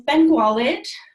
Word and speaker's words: Bengualid: My last name is Bengualid. The U is kind of like a W.